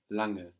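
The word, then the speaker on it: lange: la ng e and this ng that is falling on the end of the syllable is like the English ing longer we don't have a hard go sound langa langa good have you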